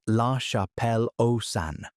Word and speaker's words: La Chapelle-aux-Saints: The most famous survivor is the man from La Chapelle-aux-Saints, pronounced La Chapelle-aux-Saints, found in France in 1908.